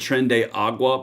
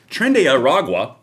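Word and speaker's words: Tren de Aragua: my last video that I said Trende Agua because I didn't say Trende Oragua. Okay, sorry, I mispronounced the Venezuelan gang. I mean, sorry. Anyway, Trende Aragua for everybody.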